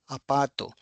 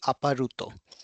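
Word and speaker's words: アパート: Apartment is called apato. So since there is r after the vowel a. So this will be replaced with a horizontal bar and it will be apato. It will not be aparuto.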